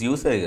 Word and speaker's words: usury: It's usury, right? USURY. Is it usury or usury? I'm, I think it's usury. It's pronounced usury.